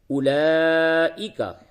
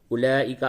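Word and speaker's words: أولئك: قرآن میں جس جگہ پہ بھی اولائکا آوے وہاں پہ واو نہیں پڑھتے. لکھنے میں آتا ہے یہ رسم الخط ہے عرب کا طریقہ ہے عربی وہ اس طرح سے لکھتے ہیں لیکن اولائکا پڑھا جائے گا.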